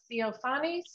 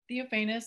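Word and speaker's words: Theophanous: can we get rosa theophanies and please tell me if i correctly pronounced your name theophanus that sounds good thank you for correcting me i appreciate it um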